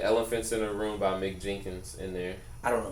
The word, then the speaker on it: Mick Jenkins: Spelled like Mike, but it's Mick. Mick Jenkins.